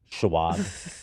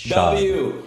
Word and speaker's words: Schaub: Brendan Schaub or Schwab? I think Schwab would be with a W, no? I don't know which one. But here it's spelled with a W, so I don't know if they're making fun of me, whoever wrote this, because I used to say Schwab. I think it's Schaub.